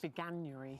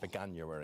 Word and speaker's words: Veganuary: Veganuary. Veganuary.